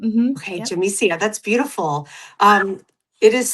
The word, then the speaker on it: Yamicia: Is Is the Y pronounced a little like a J? It's pronounced like a J. Yep. Okay. Jsia.